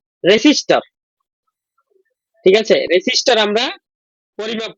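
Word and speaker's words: resistor: মানে বানান করতে কিন্তু আমার রেসিস্টর হবে, কিন্তু উচ্চারণ করতে আমরা রেজিস্টার উচ্চারণ করি, কিন্তু এটা রেসিস্টর।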